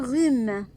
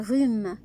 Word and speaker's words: rhume: Un rhume. R avec U, rue. Un rhume. On ne prononce pas H dans le mot.